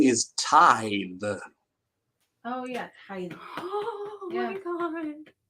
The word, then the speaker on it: The Tithe: two dollar book or the to the the titty uh the correct pronunciation is tie the oh yeah oh my God you're correct oh